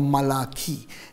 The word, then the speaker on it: Malachi: Jonah, Micah, Nahum, Habakkuk, Zephaniah, Haggai, Zechariah, and Malachi or Malachi, if you want to pronounce it that way.